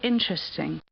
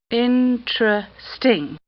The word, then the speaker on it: interesting: You say interesting. 3 syllables. Interesting. Some people say interesting. 4 syllables. Interesting.